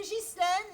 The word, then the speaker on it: Ghislaine: Bon, moi c'est Ghislaine, GH, mais on prononce je, pas gueux, hein. Pas beau gueux.